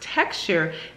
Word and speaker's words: TXTR: new product by Cantu this is txt or pronounced texture bike and to strengthen